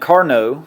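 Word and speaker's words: Carnot: so a guy named Carno the t is silent uh started studying what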